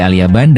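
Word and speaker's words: اليابان: Lalu mengapa kata Alyaban dalam kitab Aljafar Alazam diterjemahkan sebagai negeri Jepang? Jawabannya adalah karena kata alyaban merupakan pelafalan dalam bahasa Arab dari kata Alyafan.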